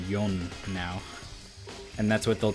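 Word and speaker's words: 四: about other cultures but in Japanese four is an unlucky number you used to say it like she like death um and I I think because of that they started calling it yon now and that's what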